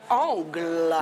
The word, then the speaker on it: Angle: Angle. Le groupe Angle, comme ça qu'on prononce.